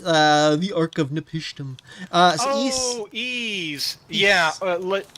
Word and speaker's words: Ys: East. The Ark of Nepishtim. Oh, Ease. Yeah. That's how you pronounce it.